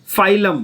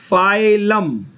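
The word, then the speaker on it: phylum: Keep से, के से क्या याद आएगा, किंगडम, पी से क्या याद आएगा, फाइलम। क्या बोलेंगे, बोलो फाइलम, फिर से बोलो, हाँ। अगेन हम लोग लिखते हैं पी से पर बोलते हैं फाइलम।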